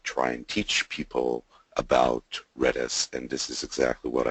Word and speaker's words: Redis: It's an acronym for Remote Dictionary Server, and you pronounce it Redis.